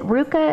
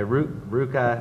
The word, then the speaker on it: RVCA: i ask is it is it ruka is that how you say it okay yeah like almond roca yeah i like almond roca uh yeah ruka which is spelled rvca